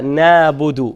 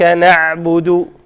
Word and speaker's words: نعبد: So بعض الناس ينطق العين مثل الألف، مثل نابد. خطأ.